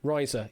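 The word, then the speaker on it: Risa: Next one we're going to reveal is Riser. I think that's the correct pronunciation. Is it riser?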